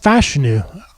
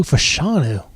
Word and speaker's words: Fashanu: So it's pronounced Fashanu. For all this time, I thought it was Olu Fashanu.